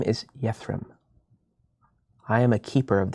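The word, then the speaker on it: Yethrem: is your name real fast my name is yathram I am a keeper of the Seas y-e-t-h-r-e-m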